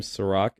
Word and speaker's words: Serak: type in my name sorak s-e-r-a-k i know unfortunately it's not spelled like liquor but i promise you